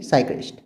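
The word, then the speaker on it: psychiatrist: एक होता है साइकियाट्रिस्ट, ये वर्ड है ना, इसकी ये एक मेडिकल वर्ड है, लेकिन इसकी जो स्पेलिंग है वो पी से स्टार्ट होती है, पर पी साइलेंट होता है, तो फिर साइक्रिस्ट नहीं, साइक्रिस्ट।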